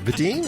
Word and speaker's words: Vadine: Is it Vadine? Am I pronouncing that right? Yes, you do.